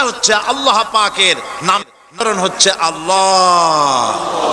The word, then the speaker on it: আল্লাহ: কেউ বলে না আল্লাহ আল্লাহ পাকের উচ্চারণটা হচ্ছে আল্লাহ পাকের নাম হচ্ছে আল্লাহ মুখটা একটু গোল হয়ে যাবে বলেন আল্লাহ আল্লাহ এবার